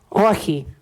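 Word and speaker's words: Όχι: And what's the pronunciation again? Ohi. Hockey. Okay. But Dino will probably say it different because we're from different regions, but it means no.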